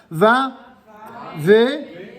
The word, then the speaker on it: Vav: cette lettre elle est tantôt consonne au quel cas elle se prononcera comme un V mais elle sera également